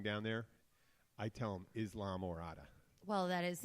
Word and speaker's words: Islamorada: in Morada but when anybody asked how to pronounce Murata and they send them and they're going down there I tell them Islamorada well that is how you say it in